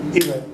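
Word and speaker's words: Ewe: Pronounced it W like a V, Ive.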